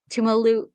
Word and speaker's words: Tuimoloau: two top rushers in Jack Sawyer and JT Tumalu. You can probably pronounce that better. Tuimoloau.